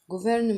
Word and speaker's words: gouvernement: طبعا الاو بتتنطق او، والجي مع الاو ما بتعطش، فبقول جو على بعض كده. جوفير الار بتفتح لي حرف الاو زي الال بالظبط. جوفرنمون وانا بفكركم ان كلمة جوفرنمنت تقريبا حكومة باللغة الانجليزية.